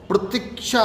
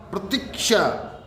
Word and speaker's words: प्रतीक्षा: गलत है अशुद्ध की प्रतिक्षा की प्रतिक्षा नहीं प्रतीक्षा कि प्रभु प्रभु मेरे